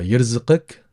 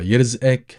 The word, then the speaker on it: يرزقك: And note as well the letter qaf. Sometimes people tend to pronounce it as the glottal stop, so the sound. And there are a lot of other people, they do tend to go ahead and pronounce it qaf, how it should be.